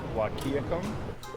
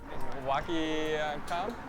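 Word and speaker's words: Wahkiakum: Wakiakum. Wakium. Whack'em. Wakiakam. Kayakam. Wakayakam. Wakayakam. Wakayakam. That's pronounced exactly as it's spelled.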